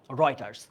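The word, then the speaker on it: Reuters: রাইটারস এই উচ্চারণ কিন্তু রিউটার উচ্চারণ কি হবে রয়েটার রয়েটারস ধরা হচ্ছে আন্তর্জাতিক একটা সংবাদ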